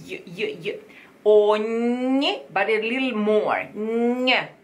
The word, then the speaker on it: ogni: Eterge ogni stilla. Eterge ogni gna gna gna gna, like yo, york, like yo, yo, yo. Ogni, but a little more gna, because you can hear the tongue gna touching the palate.